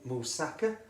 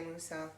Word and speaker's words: moussaka: Also can be used in moussaka or moussaka, as some people say. I say moussaka. Well, yeah. I don't know, it's just one of them things, all different pronunciations, but hey, there you go.